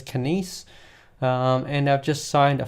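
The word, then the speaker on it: Kinéis: deal with was it Kinesis? Oh, right, Kinese, that's the one. This name, when you look at it, you're like, oh, how do I pronounce that? So the company name is Kinese.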